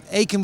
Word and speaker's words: Aiken: complicated because it's an Old English names would Ain would be correct okay but I grew up in Germany so therefore in German you would pronounce it yeah I love it well thank you so